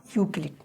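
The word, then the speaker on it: Euclid: এখানে যদি ইংরেজিতে তোমাদের লিখে দিই ইংরেজিতে নামটা উচ্চারণটা হবে ইউ ইউ ক্লি সি এল আইডি ইউক্লিড Bangla লিখতে পারো ইংরেজি লিখতে পারো যেটা তোমাদের সুবিধা হয় সেভাবে তোমার নামটা লিখবা।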